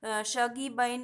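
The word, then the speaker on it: Shuggie Bain: তলায় লিখে দিয়েছি দেখো সাগি বাইন এরকম সামথিংস প্রোনাউন্সিয়েশনটা হবে নেক্সট হচ্ছে কি ম্যান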